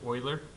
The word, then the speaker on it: Euler: guys the way that the person's name is pronounced is euler EU le are sprouts or their early ok